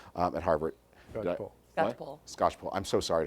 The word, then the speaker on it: Skocpol: Because there's this fantastic book on the Tea Party by a woman who's I always quote but never pronounce her name correctly, Theda Sackball at Harvard. Skocpol.